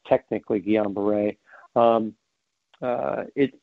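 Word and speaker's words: Guillain-Barré: by two French scientists some people call it gallion bar it doesn't really matter but it's pronounced technically Guillain-Barre um uh it says neurological disorder that there's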